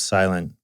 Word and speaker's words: SLNT: branding like you know it says sont which we pronounce silent but no one's really